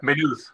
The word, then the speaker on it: Maynooth: Maynooth, Okay. Maynooth. Stress on the second syllable. Maynooth.